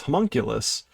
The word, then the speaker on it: homunculus: one thing and being told another so it's homunculus but the meaning here is a dwarf inside